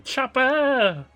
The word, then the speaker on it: Choppa: Choppa! That's how you have to pronounce it. You have to say it. Choppa! Just like that.